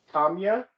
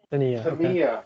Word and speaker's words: Samia: i believe destiny and tamiya i hope i'm pronouncing your name right tamiya it's tamiya samia oh i butchered that oh my goodness um